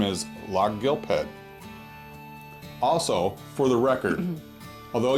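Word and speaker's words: Lochgilphead: A local might pronounce this town name like this: Loch Gilphead. There's your free pronunciation tip for today.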